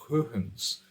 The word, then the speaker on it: Huygens: pelo grande cientista Christian Huygens. Normalmente você conhece como Huygens, que é a maneira como se escreve o nome, mas a pronúncia correta é Huygens.